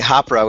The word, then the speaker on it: Hapara: It's at, I was going to say Hapara, which is how it's pronounced in New Zealand, but now it's Hapara_team.